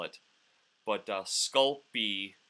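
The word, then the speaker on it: Sculpey: spell it but uh sculpy is is how it's pronounced just spell it phonetically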